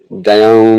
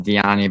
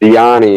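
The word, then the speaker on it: Dione: like So, well, I'm bad at pronouncing names. So, Karen Silva versus Don Barbosa. Karen Silva versus Dioni Barbosa. Yeah, Diani.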